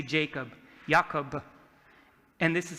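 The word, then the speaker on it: יעקב: This is how you say Jacob, Jacob.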